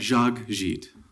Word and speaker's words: Jacques Gite: Jacques Gite. That's all. 2 syllables, not too bad, Thank you very much.